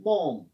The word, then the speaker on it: balm: BALM, एल इसमें silent रहता है. बॉम.